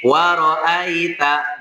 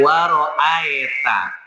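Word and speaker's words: وَرَأَيْتَ: Jadi waroaita bukan waroita tapi waroaita ai bukan a.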